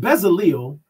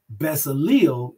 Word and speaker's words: Bezaleel: Exodus chapter 38, verse 22, and it says, and Bezaleel, the son of Uri, the son of Hur, of the tribe of Judah, made all that Yahweh commanded Masha.